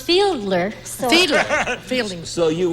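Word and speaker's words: Fiedler: the Boston Pops Orchestra sh audience oh uh Fielding Fielding Fielding Fielding I believe it's pronounced Fielder so Fielder Fielding so you would disag I would disagree with her pronounce Arthur feedler you disagree correctly you have the circle and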